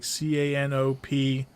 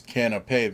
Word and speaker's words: canapé: It's canapé then. Yeah, canapé.